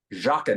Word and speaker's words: Joughin: pronunciation of said Baker it's Chief Baker jaakan and how do you spell that because it's it's unless you know how to pronounce it you're never GNA get it oh I I have to do spelling do i o u g h i n Alexander I that's I'd